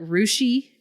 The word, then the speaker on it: Russia: We call it Rushi and it's spelled Russia.